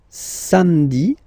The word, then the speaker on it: samedi: Then, samedi, samedi, don't insist on the hein?